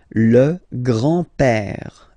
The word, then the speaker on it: père: So, le grand-père, grandfather, le grand-père, remember, E accent grave like that, it's this open E, père, le grand-père, and then the feminine form, grandmother, la grand-mère, okay, so, les grands-parents, le grand-père, la grand-mère.